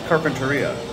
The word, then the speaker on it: Carpinteria: It's Carpinteria.